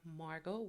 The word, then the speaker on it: Margot: my YouTube channel called Margot with the t t e a okay play on my name so my name is spelled m a r g o t um T is silent okay um so it's